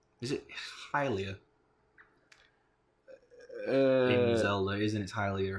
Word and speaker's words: Hylia: Okay. It's Hylia. Hylia? Yeah, it's pronounced Hylia. Okay. Like, yeah, because they're Hylian.